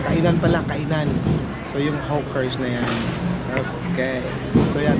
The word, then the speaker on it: hawker: Okay, so Pronounce properly, Hawker.